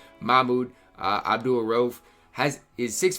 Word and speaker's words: Mahmoud: ralph does have a or mahmoud i pronounced his name wrong i knew i did because i recorded a video last year and people corrected me mahmood uh abdulrove has his